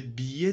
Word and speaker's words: billet: So, billet means, don't pronounce like that, billet. Billet is not correct, guys. Billet, billet. This is I. Whenever you have these four letters in a word, you must pronounce like that. Ie, ie, ie, like billet.